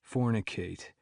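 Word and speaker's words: Fornic8: So I built a parallel persona, Fornicate. It's spelled Fornic, then the number 8.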